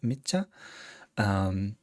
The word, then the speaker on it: Micha: This is Micha, I think is how we're pronouncing it, Micha.